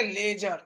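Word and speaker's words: ledger: बाद हम लोग सीखेंगे लेजर क्या लेजर डी मेरा क्या है साइलेंट है डी मेरा साइलेंट है लेजर क्या बोलेंगे लेजर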